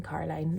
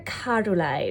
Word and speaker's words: Caroline: brother and sister cuz I just pronounced my name carine that's how people from strar say Caroline and I've like retrained myself to say my name with the O but yeah people from